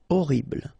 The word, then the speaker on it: horrible: Horrible. Okay, first letter is H, but then we don't pronounce H, so you don't pronounce it. And the first thing you hear is O, horrible.